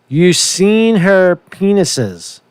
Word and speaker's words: Yersinia pestis: Yersinia pestis. That's how you pronounce that, right?